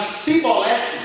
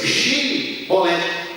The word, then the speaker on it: Shibolete: 12, 5 e 6, que os efraimitas tinham um sotaque, que eles pronunciavam Sibolete, igual os samaritanos, eles pronunciam Sibolete, e os judeus, Shibolete. Os efraimitas nem os samaritanos conseguem dizer Shibolete, eles falam Sibolete. Esse mesmo fonema tem a